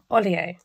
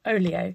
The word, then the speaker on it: Olio: So there is an app called Olio, or I think they actually pronounce it Olio, and the word actually means something.